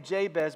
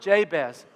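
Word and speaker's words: Jabez: childbirth that's kind of the word jay-bez it's a Hebrew word that is very closely phonetically when you produce when you when you say it it sounds like the Hebrew word for pain and so it's like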